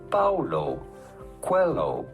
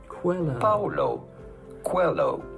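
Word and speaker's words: Paulo Coelho: to pronounce that how do you go about pronouncing his name Paulo Quello Paulo Quello pretty straightforward once you know Paulo hello cuello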